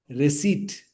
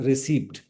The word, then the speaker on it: receipt: Wednesday prey pronunciation receipt not received pizza sad not swad